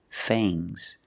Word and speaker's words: fangs: The two sharp teeth are called fangs. Use a long A plus the nasal sound and a soft G. Fangs. Fangs. And the S is making a zebra sound, Z, but it's soft.